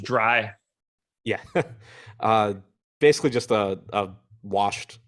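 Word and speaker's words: Drey: as highly regarded as Dre Jameson is at this point. It's pronounced dry.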